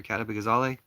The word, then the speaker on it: Kat Abughazaleh: Can you go vote for Cat Abugazale?" Her name is Cat Abugazale. I'll tell you how to spell it.